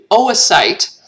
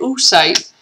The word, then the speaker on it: oocyte: So we call this developing egg an oocyte. And we pronounce both O's. It's not oocyte. Don't say oocyte.